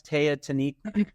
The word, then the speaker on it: Teotihuacan: But that's, how do I pronounce it, Lance? Teotihuacan.